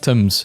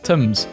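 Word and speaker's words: Thames: Sometimes I'm reminded that the name of the river Tames is pronounced Tames and I just sometimes I also think about all the people who learned how temps is pronounced from this post and will always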